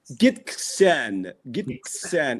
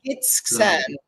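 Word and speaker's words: Gitxsan: It took me 6 months to be able to pronounce that. Really? Yes. Can you say it again? Gisxtan. It means, in their native tongue, it means the people of the river. Oh, lovely. Gisxtan.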